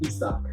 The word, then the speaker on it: Izak: His name is pronounced Izak.